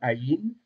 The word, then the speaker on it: Aïn: Et alors, c'est une lettre muette. On dit légèrement gutturale. Alors, le mot guttural, ça vient du mot gorge. Ça veut dire que c'est une lettre qui se prononce légèrement dans la gorge.